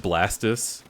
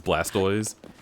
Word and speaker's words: Blastoise: a friend that said blastis because he never watched the anime and heard that it was Blastoise and I was like cuz it's a tortoise what